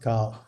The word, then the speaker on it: 考: It usually doesn't mean much, but it's pronounced cow.